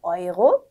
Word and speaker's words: Euro: 네, neu, Euro, 유로 아니라 Euro, äußere aufräumen. 네, 그래서 네우 이런 게 아니라 나이라고 읽는 거 I 발음 주의해 주시고요.